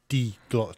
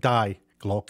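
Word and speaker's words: Die Glocke: And then you've got the big one, the D Glock, not Die Glock, it's D Glock. When the E is last, it's pronounced E, D Glock.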